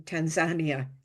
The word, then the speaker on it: Tanzania: when I was in Tanzania that's how they pronounce it there Tanzania I like that pron